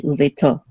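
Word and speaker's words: וּבֵיתוֹ: Sorry, I didn't say that in this word, we know that the accent is on to because of this right here. This is an accent mark and a trope mark, so uveto. So we have to make sure that we don't say uveto, but we say uveto.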